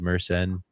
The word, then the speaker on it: Mersenne: Mersenne is how you pronounce it.